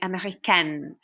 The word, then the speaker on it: américaine: So for boys, boys say américain, girls say américaine. It actually makes you pronounce that letter that comes before the E, which in this case is an N.